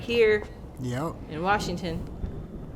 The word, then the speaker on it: Washington: my favorite just don't say Washington please there's no r ather that is I'm sorry I don't mean to offend anyone but it is kind of annoying when people say Washington because that's not how you say it am I being